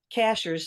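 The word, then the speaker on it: Cashiers: it by the way Cashers sounds like a strange word uh it's spelled just like a cashier at the supermarket uh we actually have a town here in North Carolina called Cashers and um that's where we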